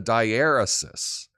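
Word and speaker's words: diaeresis: do they do that it's called a diarysis uh four syllables die er uh CIS and um that is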